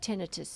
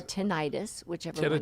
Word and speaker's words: tinnitus: I know you've had tinnitus too or tinnitus say Okay um either pronunciation is correct so it can seem